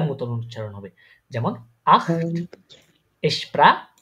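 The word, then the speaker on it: ich: এর মতন হবে বাট কিন্তু সম ইস ইস ইশ ইস উচ্চারণ সময় সঙ্গে বাতাসটা ছাড়েন তো একটু ইস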